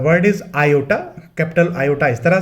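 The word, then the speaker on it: kappa: The word is iota, capital iota इस तरह से, और स्मॉल आयोटा इस तरह से। Next is कपा। Remember the pronunciation, कपा, इट्स नॉट कपा, the word is कपा।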